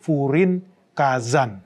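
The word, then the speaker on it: 風林火山: Bacanya berarti Furin Kazan.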